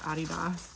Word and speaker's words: Adidas: Like Adidas is actually pronounced Adidas, but I've said Adidas my entire life, so it sounds so weird to say it the other way.